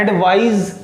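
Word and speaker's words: advise: एडवाइज, right. और एक और दूसरा होता है नाउन, एडवाइस। इन दोनों के प्रोनाउंसिएशन पे आप ध्यान देंगे, जहां पे SE आ रहा वो होता है एडवाइज।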